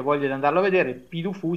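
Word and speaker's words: Puy du Fou: È difficile da spiegare, però secondo me qualcuno che abbia voglia di andarlo a vedere, Pidufu, si scrive Pui con la Y, Du Fuou, andatelo a vedere perché è una cosa incredibile.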